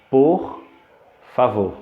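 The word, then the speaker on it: por favor: de la seconde partie de l'expression alors la prononciation correcte c'est pour favor ok pour favor pour favor s'il vous plaît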